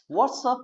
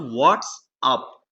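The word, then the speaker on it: what's up: कैसे हो सहेली, तो व्हाट्सअप dude, व्हाट्सअप dude, व्हाट्सअप ब्रो, व्हाट्सअप, नॉट व्हाट्स अप, व्हाट्सअप, व्हाट्सअप, व्हाट्सअप।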